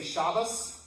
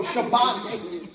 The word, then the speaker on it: Shabbat: So shabbat has a t at the end when we pronounce it, but when they pronounce it, it's shabas.